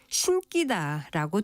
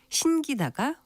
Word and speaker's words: 신기다: 그런데 유독 신따의 경우는 대부분 신기다라고 된 소리로 발음하는 경우가 많은데요. 신따의 사동사도 예사 소리인 신기다가 올바른 발음입니다. 지금까지 바른말 고은 말 아나운서 국회정이었습니다.